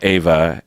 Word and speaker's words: Ewa: So, yeah, on my Facebook, I have it written down phonetically, but I usually write it E-H-V-U-H.